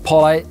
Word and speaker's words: Pole: things about my bike pole bicycles or polly if you uh pronounce it like they do in finland based over there they're